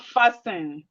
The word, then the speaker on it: fasten: We have listen. The T here is silent. The T is silent. We have castle. We have whistle. We have fasten. We have soften. Fasten, whistle, castle, listen. The T in these words are silent.